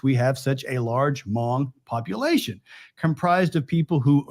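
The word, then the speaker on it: Hmong: Communist insurgents now the Mong that's spelled hm o n g it's an ethnic group the H is silent now they ultimately lost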